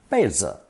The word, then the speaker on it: 被: It's pronounced fourth tone, 被, 被.